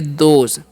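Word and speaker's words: those: हैं है ना अब टी एच ओ एस है तो इसे हम पढ़ेंगे दोज दोज मतलब क्या होता है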